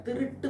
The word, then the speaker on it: திருட்டு: பார்கிறோம் திருடு போச்சு அப்படிங்கறாங்க திருடு போச்சுன்னு சொல்லக்கூடாது திருட்டு போனது அப்படின்னு சொல்லணும். திருடுதல் திருட்டு போனது அப்படிங்கிற பொருளை சொல்லணுமே தவிர திருடு போச்சு அப்படின்னு சொல்லக்கூடாது அது வந்து தவறான உச்சரிப்பு தவறான சொல் அது திருட்டு அப்படிதான் நம்ம சொல்லணும் நிறைய பத்திரிக்கைகள் ஆகட்டும் செய்தி